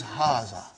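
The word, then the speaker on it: هذا: it is pronounced like but this alif is not written it is explained in the key also so it is haazah okay means this and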